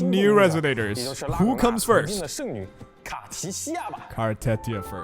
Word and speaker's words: Cartethyia: Now, by the way, her pronunciation, if it's Chinese, it should be Cartia. But I think I've searched on Reddit to see how how do you actually pronounce her? People say Cartetia, so I'll stick I'll stick with that. And this is adorable idol animation.